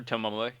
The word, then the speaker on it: Tomoe: like, It's pronounced Tomoe.